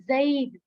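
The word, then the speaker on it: زَيْدٌ: किसी बॉय का नेम है, जिसे कहते हैं जैद। जैद तो अरबी में हम प्रॉपर प्रोनाउंस करते हैं ज़ईद।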